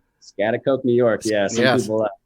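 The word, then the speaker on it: Schaghticoke: Scotticoke, New York. Yeah. Some people, I'm honestly impressed how to pronounce it like the first time.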